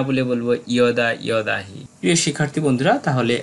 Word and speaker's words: যদা: এরপর আমরা আরও আছে যেন না বলে বলবো ইয়েন, যদা যদাহি না বলে বলবো ইয়দা ইয়দাহি। প্রিয় শিক্ষার্থী বন্ধুরা, তাহলে আমরা জানতে পারলাম অন্তস্থ জয়ের সঠিক শুদ্ধ উচ্চারণ।